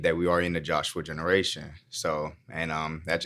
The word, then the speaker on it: Jeshua: by the way um it's joshua spelled with an e let's talk about it